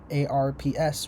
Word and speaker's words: ARPS: To ease the transition from test pilot schools to ARP- ARPS rhymes with Corps.